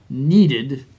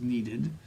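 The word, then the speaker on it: kneaded: flour moistened with water needed that means this is needed you don't pronounce the k in that for people and baked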